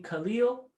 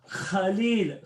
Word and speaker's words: Khalil: And so the nurse said, "Oh, you mean Khalil?" And she said, "No, Khalil, in your throat."